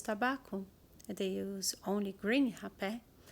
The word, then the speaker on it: hapé: They use only green hapé, like the tribe Apurina in the Acre. They only use green hapé. And yes, that is the pronunciation, Hapé.